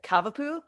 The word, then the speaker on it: Cavapoo: dolly so she's a i looked this up how to pronounce it cavapoo have a poo so cavalier king charles